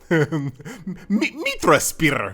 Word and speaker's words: Mitrasphere: the game was again mitra spire meet me you got to say it like that i promise it feels